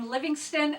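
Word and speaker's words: Livingstone: education by Richard wi Livingston and it's O NE e so I want to say Stone because phonetically speaking that's what it's supposed to be anyway so I probably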